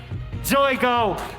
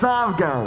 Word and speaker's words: Zavgo: I was told that it's Zoigo. No, it's Zavgo.